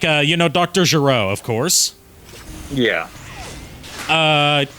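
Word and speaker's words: Gero: uh you know Dr Giro of course yeah uh they went with the Japanese pronunciation of his name Dr ghetto I didn't know that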